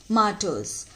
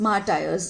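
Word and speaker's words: martyrs: और ये ध्यान रखना कि इसको प्रोनाउंस कैसे करना है आपको, मार्टर्स, मार्टर्स, मार्टायर्स नहीं, ठीक है, मार्टर्स।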